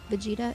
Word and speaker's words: Vegeta: Hi, Vegeta. Or Vegeta. How do I say that? What's the right way to say that? I love Blackpink. Hello. Vegeta, it is. Okay. Sorry, I said it wrong.